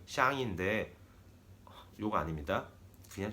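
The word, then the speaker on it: 向: 이렇게 한국의 방향의 향만 빼서 그게 중국어로는 발음이 샹인데 요거 아닙니다.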